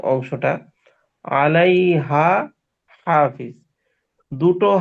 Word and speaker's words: حافظ: প্রথম আলাইহা, এই হাটা স্বাভাবিক। এরপরে যে হাটা, এই হাটা একটু ওই চাপ দিয়ে উচ্চারণ করতে হবে।